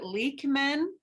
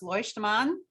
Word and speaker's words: Leuchtmann: They say his family pronounces it Leuchtmann, but it's supposed to be pronounced Leuchtmann.